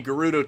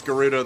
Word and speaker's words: Gerudo: I'm pretty sure it's Gerudo though Gyarados just sounds weird sounds more like that Pokemon the dragon Pokemon that Magikarp evolves into I'm pretty sure it's not meant to be pronounced like that oh a shrine ain't